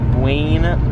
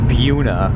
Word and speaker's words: Buena: I gotta tell you, Jeremy, you're pronouncing that wrong. We're in New Jersey. Is it Buena? No. Buena? No. Buna. What?